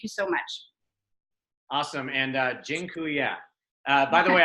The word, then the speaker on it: dziękuję: And dziękuję. By the way, I just taught you all a Polish word for thank you. It's dziękuję.